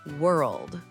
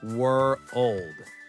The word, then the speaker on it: world: Let's start with world. World. It has that dark L sound. Were-old.